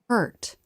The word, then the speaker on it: hurt: Here's the word hurt. Watch the tongue pull back and up. Before coming forward for the T. In a stressed syllable, the vowel curves up, then down. Hurt. In an unstressed syllable, it's lower in pitch, as well as quieter and quicker.